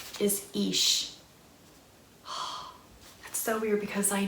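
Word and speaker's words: Ix: Okay, so the pronunciation is Ish.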